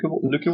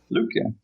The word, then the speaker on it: Lykke: any fiat currencies in the Lykke wallet, and it allows easily to deposit any kinds of fiat currencies using credit cards, bank wires, and so on.